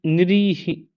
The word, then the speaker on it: निरीह: ठीक है ना तो लेकिन सही उच्चारण हमारा क्या होना चाहिए निरीह निरी निरीह निरीह यह उच्चारण होना चाहिए निरी देखते हैं टाइमिंग